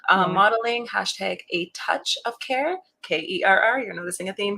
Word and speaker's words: Kerr: That's Kerr. And no, it is not pronounced Kerr.